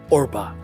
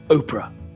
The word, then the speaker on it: Orpah: Winfrey was actually named Orpah when she was born on january 29th 1954 Orpah who are be aah taken from a biblical character in the Book of Ruth was often mispronounced as Oprah eventually the mispronunciation stuck